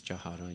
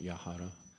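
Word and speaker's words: যাহার: the Chaitanya Charitamrita, but we don't know when to pronounce y and j, because the y, a lot of people, we just pronounce it y is a y, but sometimes y is j. It's the same when we sing Guru Puja. Jahara Prasadi Bhai, this is Jahara, not Yahara, or Jaha Hoiti.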